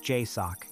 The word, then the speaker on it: JSOC: Joint Special Operations Command, pronounced JSOC in the way it has been spoken inside the building for 45 years.